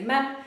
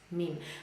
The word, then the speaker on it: meme: In Polish, we say mem, but in English, we say meme. So we say, we pronounce it as meme.